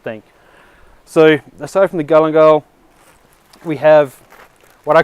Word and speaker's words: galangal: Galangal.